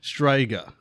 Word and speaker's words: Strzyga: It's spelled Strzyga. Striga. Yeah, something like that. Is it like Swedish or Swiss or something? It is Polish.